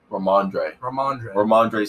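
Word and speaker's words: Rhamondre: I don't know how to pronounce that either. Ramondre Stevenson.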